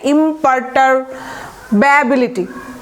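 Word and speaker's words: imperturbability: তাহলে আমরা উচ্চারণ করব কি? ইমপারটার্ব, থেমে গেলাম, এবিলিটি যোগ হয়েছে। তাহলে একসাথে উচ্চারণ করলে কি হবে? ইমপারটারব্যাবিলিটি, ঠিক আছে?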